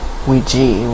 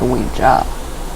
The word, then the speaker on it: Ouija: Ryan, why do people say Ouija when on the board it clearly says Ouija? In Germany it's pronounced Ouija. W-E-E-G-E-E. That's the German. So you can either pronounce it Ouija or Ouija.